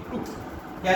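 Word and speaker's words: took: It's pronunciation is टुक, it's pronunciation is टुक। तो सामने दिख रहा है कि जब हम टुक बोल रहे हैं तो what we कैन say that short, right.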